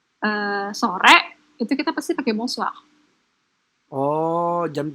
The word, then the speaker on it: bonsoir: Bonoa. Itu benar, tapi pengucapannya salah. Oke. Jadi, selamat pagi, bonjour. Bonjour. Selamat malam, bonsoir.